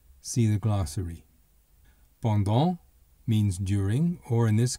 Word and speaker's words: pendant: Pendant means during, or in this case, for. Notice that the final T is silent.